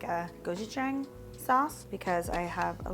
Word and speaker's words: gochujang: for the gochujang, yeah, I think I said jang before, gochujang.